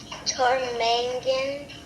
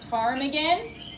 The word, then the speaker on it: ptarmigan: The P is silent. Ptarmigan. Ptarmigan. Ptarmigan, Alaskan state bird has Okay, but are we going to write special Alaska state place- bird?